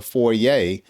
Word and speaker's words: foyer: And so the foyer, again, or the foyer, depending on how you pronounce it, is a space right at the front door before you enter into the home.